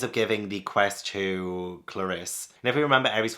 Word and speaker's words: Clarisse: Yeah, Clarisse. I for a second I wasn't sure how to pronounce it.